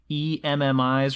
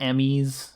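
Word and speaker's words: EMMI: get really frustrated by it, is am I pronouncing this correctly, the E.M.M.I.s or the E.M.M.I.s?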